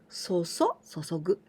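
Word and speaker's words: 注ぐ: We pronounce 注ぐ and chew.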